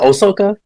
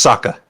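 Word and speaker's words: Sokka: Isn't it Osoka? No, it's it's just Saka. Saka. Saka. My bad. Sa. I mean, I think I pronounced the O's more, but yeah.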